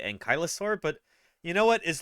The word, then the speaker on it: ankylosaur: so yeah anoing spondilitis ankasa ankylosaur just don't say ankur because if if she